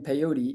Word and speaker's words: peyote: For example, it looks like it rhymes with coyote. Courts upheld laws banning peyote, even though it was